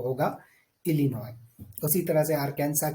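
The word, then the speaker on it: Illinois: आई एस सो यहां पर जो है आपको साइलेंट मिलेगा वो होगा alinoid उसी तरह कैंसर की बात करें तो आर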